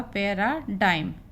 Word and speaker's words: paradigm: ये आपका दिया हुआ है PARADIGM, तो इसका उच्चारण होगा पैराडाइम, गा नहीं होगा।